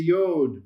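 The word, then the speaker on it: יוד: That is the yod. Very good. That is your Hebrew Y sound.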